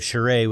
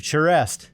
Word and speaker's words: Charest: record it and so with the proper Bostonian pronunciation it's chere so I'm